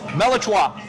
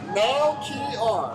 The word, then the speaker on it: Melchior: How do you pronounce this? Melichwa. No? Melichwa. Melchwa. I can't forget. Melchior. Melchior. Son, by the way, y'all